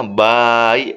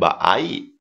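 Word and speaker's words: 場合: Ini dibacanya bai, bukan baai.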